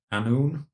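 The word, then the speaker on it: Annwn: get this pronunciation correct is called anu a double n w n but the w is like an o u sound a noon so the most significant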